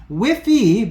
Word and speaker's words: WIFI: enu token ticker symbol is WiFi wi and then an I so it's whiff just like the other one except it's got an i because it's an enu so it is whiffy but basically spelled like